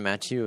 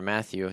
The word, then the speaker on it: Mathieu: Even Tyrann Mathieu as well, or Matthew, depending on how you want to pronounce it, if you're French or not.